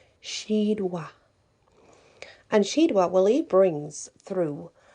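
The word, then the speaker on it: Sheadwa: and his name is shidwa which is a s-h-e-a-d w a and pronounced s h e e d w a h she wa and she double brings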